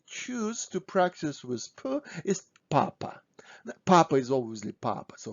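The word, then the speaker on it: папа: hook for ah so this is papa papa stressing is on first ah papa so pause my video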